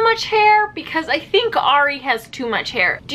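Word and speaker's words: Arie: pronounce his name properly I only know it's re because he literally just said on TV that his name was Ari I cringed very hard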